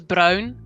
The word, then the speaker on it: bruin: back hair one is bruin copper hair that is the dutch word for brown that's funny because of the copper hilarious it pronounces brown but it's spelled exactly the same and they are all